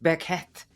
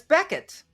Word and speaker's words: Bequette: it all the time they want to say Jake Becket but it's Becket how did that happen